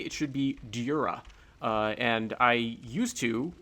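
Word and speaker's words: Djura: is meant to be sort of a European style J where it sounds like a Y to um people in the US like me.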